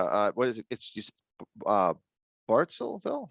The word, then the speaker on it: Bartlesville: that same area uh what is it uh bartelville how do you say that bartlesville yeah bartlesville oklahoma yeah they've got uh they've